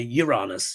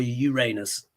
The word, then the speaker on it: Uranus: Yeah, the ancient Greeks called him Uranos, but we now say Uranus, yeah, or Uranus, which is the Roman pronunciation.